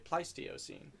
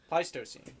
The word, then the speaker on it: Pleistocene: the scientific term Peter oh wrote down the pronunciation folk it's the pleistio scene pleistocene place the scene he got he got on